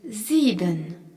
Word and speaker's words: sieben: On y retrouve le S suivi d'une voyelle en début de mot qui se prononce Z, ainsi que le I prolongé par un E qui est un I long.